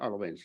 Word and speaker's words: Alfvén: I I may start correct a little your pronunciation of honest Irwin's name the f is completely mute FB is very okay